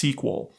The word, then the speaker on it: SQL: use a query language called SQL sometimes just pronounced SQL which stands for structured query language it's a